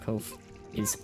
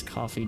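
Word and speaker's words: Ko-fi: The correct pronunciation of Kof is Kofi rhymes with no fee. Many people mistakenly pronounce it as coffee due to the logo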